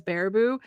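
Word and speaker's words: Baraboo: Besides, the other reason I probably knew how to pronounce it as Barabou was because originally we tried to stay at the old Geekhon Hotel.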